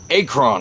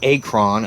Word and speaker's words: Akron: And, you know, they can't even pronounce Akron, Ohio. Yeah. Akron, Ohio. No, it's not Akron, Ohio. It's Akron, Ohio.